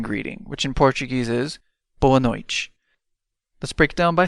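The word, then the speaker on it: boa noite: have the evening greeting which in Portuguese is boano let's break it down by syllable B no and one time fast Bo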